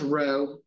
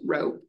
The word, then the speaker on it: rho: curl to it, and it's pronounced rho, kind of like Roe v. Wade. That kind of same pronunciation, rho.